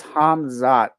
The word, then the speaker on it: Khamzat: I was gonna say bro his name is hamzat hamz yes hamz hamz Chay yes hamzat what